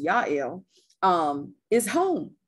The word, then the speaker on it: Jael: the keynotes house well jael which is pronounced yael um is home right